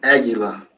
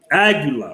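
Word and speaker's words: Águila: aguila the bear you just drunk how you pronounce that brother oh aguila aguila okay i see a lot of people that's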